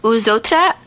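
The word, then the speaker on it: Eux Autres: And according to the band's website, the band's name is pronounced Uzotra.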